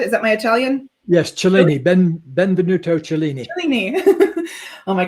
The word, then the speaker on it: Cellini: Yes, Cellini, Benvenuto Cellini.